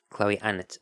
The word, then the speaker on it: Chloe Annett: her own name, so I'm going with how Chloe Annett pronounces her own name. Chloe Annett.